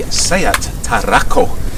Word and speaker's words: SEAT Tarraco: one the only the sayat tarako and i say it like that because it's actually named after a certain place in spain if you do a